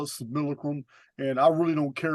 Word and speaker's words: simulacrum: Simulacrum don't even sound right to me, but that is the proper pronunciation.